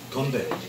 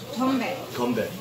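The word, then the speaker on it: 건배: Gombae. Gombae. Gombae.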